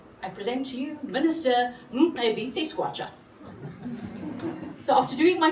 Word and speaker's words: Mcebisi: And this particular minister had one right at the beginning of his name. I present to you Minister Mcebisi Squatcher.